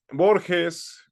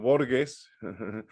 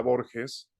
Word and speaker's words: Borges: ídolo de las juventudes y la gente e Borges que bueno ya había citado el expresidente Vicente Fox como borgues ahora sí que mucha gente que se la